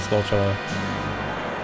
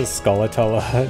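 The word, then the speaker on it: Skulltula: in the video for saying skull instead of scultula.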